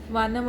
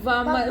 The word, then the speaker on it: वामन: वानम अवतार। वानम अवतार। थोड़ा सा करेक्ट करो इसको, आपकी प्रोनाउंसिएशन सही नहीं आ रही। नो, वानर नहीं है। आपकी प्रोनाउंसिएशन थोड़ी सी। वामल। बामन। वामन वामन वामन वामन वामन वामन वामन।